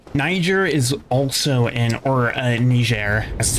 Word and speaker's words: Niger: country of Niger Niger is also in or ner as it's proper properly pronounced um is also in in Africa kind